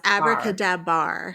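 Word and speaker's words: AbracadaBar: it Abracadabra bar or is it Abra kadab Abra kadab bar that's what it is okay uh so we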